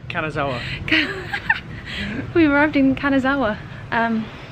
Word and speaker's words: Kanazawa: We've just arrived in Kawasaki. How you say it? Kanazawa.